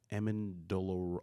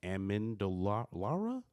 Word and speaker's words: Amendolara: Damon Amendola, I can't say his name, Amendolara.